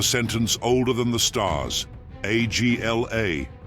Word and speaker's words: Agla: Agla, pronounced Agla, is the abbreviation of the words Atha Gadol Leolam Adonai.